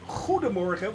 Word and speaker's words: goedemorgen: Well, actually, it's Goedemorgen with a hard G. So, yeah, you have to, like scraping your throat.